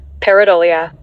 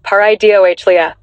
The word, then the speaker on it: Pareidolia: That, my friends, is your brain playing a fantastic trick on you, and it's got a proper scientific name, Pareidolia. Pronounced something like Pareidolia.